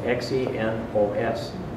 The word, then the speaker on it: xenos: It's spelled X-E-N-O-S, xenos.